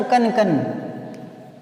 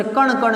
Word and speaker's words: कण: ठीक है, जैसे आता ना कन कन, कन कन, तो ये गलत होता है, कण कण होता है, कण कण। ईश्वर कण कण में विद्यमान है।